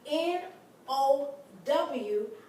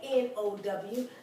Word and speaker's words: now: out from the k n o w so I'm going to take the part n o now this is not pronounced no this is pronounced now it's pronounced like cow ow it's pronounced like